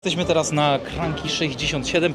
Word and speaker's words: Cranchi 67: Jesteśmy teraz na Krank 67. Po włosku wymawiane jak Sesanta Set.